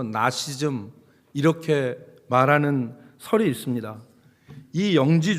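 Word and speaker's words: Gnosticism: 근호 시점이라고 얘기 라고 영어로 읽으면 앞에 있는지 발음이 묵음 이 돼서 나씨 즘 이렇게 말하는 설이 있습니다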